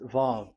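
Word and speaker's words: ו: So it's V as in Vogue. So it's really V. How to read Vogue? So the word, the shape Vav is really pronounced V, like Vogue. That is it, pronunciation. So here in this side, it's pronunciation. This is pronunciation. So according to the old Hebrew word today, those who, the owner of the words, I mean, so it's a V. So don't change it into W, and you will say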